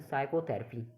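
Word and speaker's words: psychotherapy: जैसे PSYCHOTHERPY साइकोथेरेपी, यानी कि इसमें साइकोथेरेपी तो बोल नहीं रही, इसको बोल रहे साइकोथेरेपी, यानी कि इसमें पी साइलेंट है।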